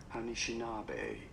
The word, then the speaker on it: Anishinaabe: the United States, but how do you go about pronouncing it? Anishinaabe. You do want to stress on the fourth syllable, on the na syllable. Anishinaabe.